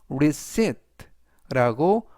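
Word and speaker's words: receipt: 의미로더라고 붙여 주시면 되겠고요 영수증을 영어로 reit라고 말하시면 되겠는데요 이때는 이번 단어에서 무음이라 발음이 되지 않습니다 그래서 reit라고 써 주시면 되겠고요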